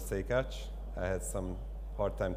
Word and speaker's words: Szekacs: this presentation will be the pronunciation of my name so again it's somewhat say catch i had some hard